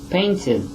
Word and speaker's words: painted: So you would say painted, right? Painted. So see, these are all examples when we apply the number one rule with the ed sound, it will sound ed.